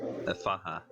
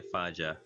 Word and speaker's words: Efaha: Efaha. Or if you're fond of pronouncing the J, Efaja.